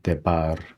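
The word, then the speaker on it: דבר: 그다음에 베가드 케파트 문자지만 모음 뒤에 오기 때문에 BH 한 묶음으로 부드럽게 발음해주라는 의미죠. 그다음에 파타 단모음, 그다음에 레쉬, 그래서 데바르 이렇게 발음하죠.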